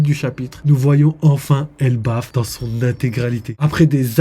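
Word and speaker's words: Elbaph: Après des années d'attente, le nom officiel est Elbaf et non Elbaf. À l'oral, c'est bizarre, mais la vérité c'est que Elbaf, ça s'écrit E-L-B-A-P-H à la fin, au lieu d'un Elbaf totalement lambda.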